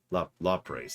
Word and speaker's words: Lapras: what pronunciation I mean? Lapras. Lapras, there we go.